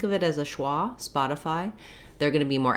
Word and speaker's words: Spotify: like city or pretty the letter y says the e sound in this word spotify it says the i diphthong i've rewritten that here for you with igh just because it's hard to show you a way to spell i that's consistent but the letters igh like in fight have that same eye vowel fight night light so